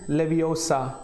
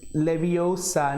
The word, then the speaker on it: Leviosa: is your uh wingardium leviosa it's leviosa not leviosa that's let's start with